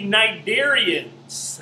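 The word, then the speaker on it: Cnidarians: for the notes is the knight variants that's right it's spelled CN i dar IA NS is the first part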